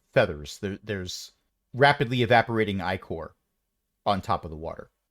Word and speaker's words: Ichor: Okay, it is Ichor. Oh my gosh, I was right? I thought I was deliberately pronouncing it wrong.